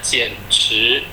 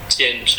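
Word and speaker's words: 简直: Lalu yang kedua, titik merah yang kedua, ini bacanya 简直. 简直 itu pinginnya J-I-A-N, ada 3, 简. Lalu 直 Z-H-I ada 1, 简直.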